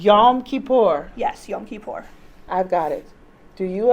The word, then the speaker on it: Yom Kippur: And just one more time, can we pronounce it correctly? Yom Kippur. Yom Kippur. Yes, Yom Kippur.